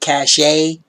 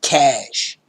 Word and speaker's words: cache: people can pronunciate it cachet some people pronounce it cochi but it's actually pronounced cash um because you know